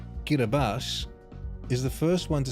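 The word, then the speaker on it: Kiribati: Do you know that Kiraabati, pronounced Kiraabas, is the first one to celebrate New Year's?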